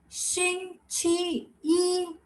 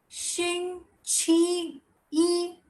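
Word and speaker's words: 星期一: Xing, Qi, Yi. Again, Xing, Qi, Yi.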